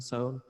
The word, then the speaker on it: Sohn: There's an artist, he goes by Sohn, or I think it's Sohn, Sohn, S-O-H-N, Oh, yeah. spelled like John with an S.